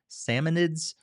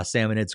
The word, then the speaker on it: Salmonids: these aggressive creatures called Salmonid Salmon Salmonids, I think is how you pronounce them.